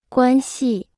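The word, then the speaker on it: 关系: 关系关系关 Se pronuncia con el primer tono. 系 Se pronuncia con el cuarto tono.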